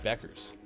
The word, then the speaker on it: Bueckers: But Beckers is spelled like Bueckers or something like that.